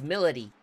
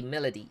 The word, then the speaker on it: Milady: of sass doesn't she oh no it's Melody it's actually Melody it's spelled Milady but it's Melody okay let's get right